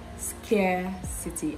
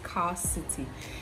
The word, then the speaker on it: scarcity: start with this word scarcity care City I know a lot of people will say it's car city it's not the long R sound after this the next